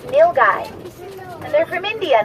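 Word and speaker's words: nilgai: sock they are called nil guy analou n i l g a i the word is pronounced nil guy and they're from India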